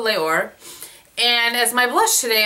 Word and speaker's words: Les Ors: under the Guerlain Les, I've been saying Les Ors, but somebody was telling me that the S is silent, which I don't remember from my French class. So Les Ors.